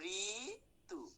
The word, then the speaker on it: ঋতু: আচ্ছা, আমরা কি লিখেছি বানানটা দেখো তোমরা, আমরা লিখেছি ঋতু, কিন্তু উচ্চারণ কি হবে দেখো, ঋতু।